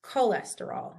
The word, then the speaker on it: cholesterol: So this we pronounce cholesterol, not like a K.